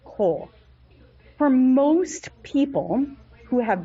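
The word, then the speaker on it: כל: it, and lamed, and it would normally be pronounced kal, but because it's a kamatz katan, which is ironic because it is bigger when it's usually marked, kamatz katan is pronounced kol.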